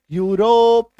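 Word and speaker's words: Europe: चलो नेक्स्ट देखो, अगर किसी शब्द में ईयू आए तो ईयू का भी उच्चारण यू होता है, और ये आपको मैक्सिमम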